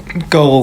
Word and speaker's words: girl: ใช่ ค่ะ เพราะ ว่า เสียง นี้ นะ คะ คล้าย กับ เสียง พยัญชนะ ก ใน ภาษา ไทย ใช่ มั้ย คะ ใช่ คน ส่วน มาก เลย คิด ว่า เอ๊ะ เรา อาจ จะ ออก เสียง ถูก แล้ว หรือ เปล่า แต่ จริง ๆ นะ คะ เสียง ก เทียบ ได้ กับ เสียง เข มาก กว่า ค่ะ ก็ อาจ จะ ต้อง